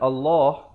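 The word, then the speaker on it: الله: opo dibaca satu harokat Ingatlah selalu saya pesan perkataan Allah walaupun lam yang kedua ini kita tengok baris Fah diatas tetapi bacanya dua harakat Bismillah Bismillah Hirohman Nirohim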